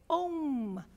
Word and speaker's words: om: The first syllable of the Sanskritic alphabet is ah. And the last syllable is mm. So, let's try this together since you're responsive. Everybody, together, let us say om.